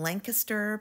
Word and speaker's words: Lancaster: Outlet so I went to the location in Lancaster Pennsylvania that's how the locals say it and I did uncover several Pottery